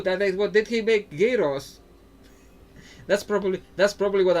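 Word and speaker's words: gyros: Geros. That's probably that's probably what Americans think Alexander the Great did cuz I think that's what how Greeks pronounce it. Yos.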